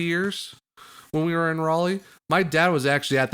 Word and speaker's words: Raleigh: yeah I'm just curious is it pronounced Raleigh or rally uh it's Raleigh okay I'm I'm the